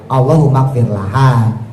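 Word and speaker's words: اللهم اغفر لها: Tapi kalau bicara yang benar sebetulnya Allahumfir laha. Tapi seandainya orang itu baca Allah magfirlahu pun bacanya damirnya kata gantinya laki-laki itu sudah mewakili.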